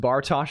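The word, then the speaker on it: Bartosz: Um, pronounced Bartosh.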